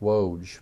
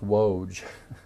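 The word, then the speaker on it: Łódź: they moved us to loads which in polish that's pronounced woj because the l has a dash on the deal and my my niece who is a missionary in romania said no that's woge and we were there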